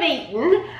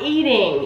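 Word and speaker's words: Garden of Eatin': trying these Garden of eaten uh corn tortilla chips and I'm not pronouncing that wrong it is eaten not eating it's eaten Garden of eat it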